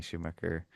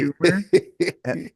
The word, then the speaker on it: Schumer: I couldn't think of anything else besides, hey, this is Amy Schumacher or however you say her name. And Amy then Schumacher. and Amy she Schumer.